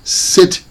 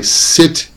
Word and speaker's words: sit: a coffee shop but be careful because if you pronounce sit with the SH all the sound is can i here and I don't think anybody wants you to here so can I sit here can I sit